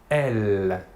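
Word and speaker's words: elles: Et le pronom personnel sujet féminin de la troisième personne du pluriel est elle. Même chose que pour le masculin, la S finale ne se prononce pas.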